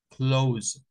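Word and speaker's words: clothes: pronunciar la th o para referirse a a ropas verdad ya no ya no usamos el th sino que nada más decimos Close pero eso ya son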